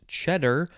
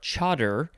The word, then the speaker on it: chador: We're now at the top of page 204, and our first word is, I think it is pronounced cheddar or chador, Chador.